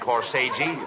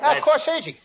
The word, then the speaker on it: corsage: No, not corsage. Corsage. That's corsage. Spelled A-G-E is pronounced like odd, as in corsage or garage.